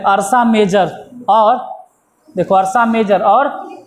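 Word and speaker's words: Ursa Major: तुमको कहां है बोलो तो स्पेलिंग अरसा मेजर के तुमको दिखाई दे रहा होगा य आर ए यूष इसको बोलते हैं य अरसा मेजर अरसा मेजर अरसा मेजर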